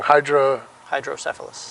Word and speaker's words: hydrocephalus: always say it wrong, hydrocephalus. Hydrocephalus. Not syphilis, cephalus.